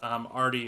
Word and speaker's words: Aarde: It's Aarde. It's spelled A-A-R-D-E, but it's actually.